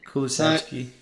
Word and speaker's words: Kulusevski: They have Demiral, they have Romero on loan, they have De Ligt, there's the Kulusevski, is that how you pronounce it? Kulusevski, yeah.